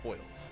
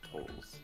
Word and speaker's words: tolls: But that recently I've heard a whole bunch of toils. Oh, I've never heard toils till today. Which makes me wonder if I've been saying it wrong. Is it me? It's for whom the bell tolls.